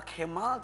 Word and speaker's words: Cemal: Jamal atau Kemal atau apa sih? Jamal. Tapi tulisannya C. Iya, di Turki C itu dibacanya J.